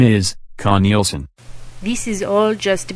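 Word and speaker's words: Knelson: A lawyer named Jerry with a J, Connelson, with a K, that's spelled K-N-E-L-S-O-N. I see the K is not silent.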